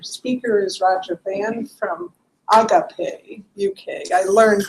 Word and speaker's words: Agape: And our speaker is Roger Van from Agape, UK. I learned it's not agape, it's agape, to pronounce properly.